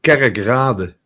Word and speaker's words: Kerkrade: It's pronounced Kerkrade. Okay. Kerkrade. Kerk means church.